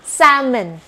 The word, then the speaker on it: salmon: เสียง เป็น เสียง ชื่อ ว่า นั่น เอง ค่ะ salmon salmon หรือ คำ ว่า แค่ เลต แค ร็ท